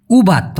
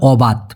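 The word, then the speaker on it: ubat: উবাত অনেকে বলে অবাত। ভাই একই কথা উবা উচ্চারণটা হবে মূলত উবা বানানটা হল এই ইউবি এটি।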